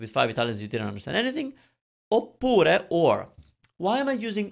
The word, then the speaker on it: oppure: Oppure means or. It doesn't have a different meaning. It's just oppure means or. But it's longer. Oppure. It's 3 syllables. It's got a double P.